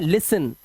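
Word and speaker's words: listen: इसी तरह से यहां पर इसे पढ़ते हैं लिसन। क्योंकि यहां पर टी साइलेंट होता है।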